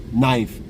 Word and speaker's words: knife: Knife. No, it's pronounced knife. No, but there's a K.